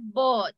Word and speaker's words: bought: You pronounce it bought. La U es silenciosa. Yeah, so you say but.